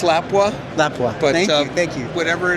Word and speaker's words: Lapua: Am I pronouncing that right, Lapua? It's Lapua.